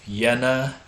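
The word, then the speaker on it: Jena: uh he has a go school in yenna Germany J is spelled j n a so he's the only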